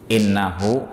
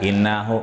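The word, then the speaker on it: إِنَّهُ: sampaikan idhahul khuur rahim innahu huwa gofururohim lihat di sini bahasanya innahu Inna itu kan bacanya diteken in noh Nggak bisa inaho nggak boleh ya cenak berarti dia guna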